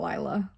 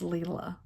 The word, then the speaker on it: Lila: i know lila's studio her name is not lyla it's leela um and of course